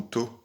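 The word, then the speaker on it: 砥: Awase do, do c'est ce qui, do ou to, ça dépend encore comment on le prononce, c'est ce qui définit la pierre.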